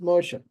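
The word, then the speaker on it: משה: And you see why this is pronounced Moshe. This dot above here, see that dot? The one that's up here? That one? That's what makes this a shin.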